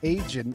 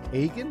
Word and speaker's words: Agin: Agin is not right. It's Agin. How did you say it? Agin. Yeah, Agin. Hard G.